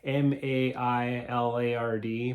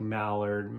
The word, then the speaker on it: Maillard: But it's like Maillard, but it's not pronounced like Mallard or anyways.